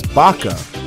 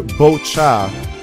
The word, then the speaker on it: Bacha: He says, that's your boy Bacha, which you pronounce as Baca, but it's rather Bocha with C-H as in chat, oh, as in chair.